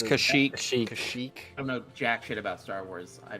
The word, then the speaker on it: Kashyyyk: jamaric wise canned heat speak pete yeah um kashuk the the wookie home world is it's kashyyyk i'm no jack about star